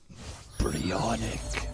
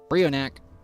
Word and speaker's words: Brionac: My dyslexic ass always called it Bryonic. That's what I'll always call it, even though it's probably correctly pronounced Brionac.